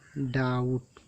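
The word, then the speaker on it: doubt: यदि कहीं पर भी टी से पहले बी है तो वो बी साइलेंट रहता है। देखिए, डाउट डाउट में ये टी से पहले बी आ गया है तो इस बी को नहीं पढ़ा गया, डायरेक्ट डाउट।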